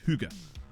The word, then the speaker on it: hygge: a word in Danish, the Y's were pronounced like U's. Like hygge.